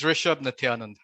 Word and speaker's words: Rishab Nithyanand: You actually did a pretty good job. It's Rishab Nityanand.